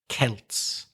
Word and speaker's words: Celts: really looks like it but it isn't it's pronounced it's Celts although you do have the football team Celtic